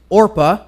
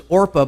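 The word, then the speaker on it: Orpah: Winfrey was actually named after was orpa but when she was a kid nobody could kept everybody kept saying Oprah and so she actually changed her name to Oprah from orpa because everybody was saying it wrong anyway yeah use that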